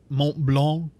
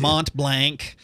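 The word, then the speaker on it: Mont Blanc: and I you know I'm gonna exaggerate it because everybody is always correcting me about the pronunciations yeah that's a rough one for me too Mont blank as I as I like to say just out of vindictiveness um uh I liked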